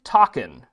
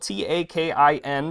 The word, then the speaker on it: takin: This is an adorable golden takin. It's spelled T-A-K-I-N, but as the San Diego Zoo helpfully instructed me, it is pronounced like rockin'. It rhymes with rockin'.